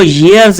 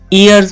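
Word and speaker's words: years: एम 17 इयर्स ओल्ड इस word को ईयर्स नहीं इयर्स प्रोनाउंस करेंगे आई एम 17 इयर्स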